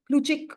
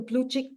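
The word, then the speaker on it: Plutchik: One of them being the the the pluchic wheel. It's called the pluchic wheel.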